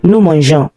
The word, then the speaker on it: mangeons: If you did not add e to it, the pronunciation will be like g. For example, nous mangeons. The e before the who will make it je, not g.